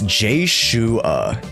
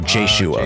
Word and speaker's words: Jshoea: How do I pronounce it correctly? It's Jshoea. So Jshoea.